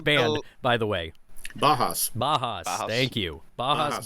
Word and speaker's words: Bauhaus: Bajas.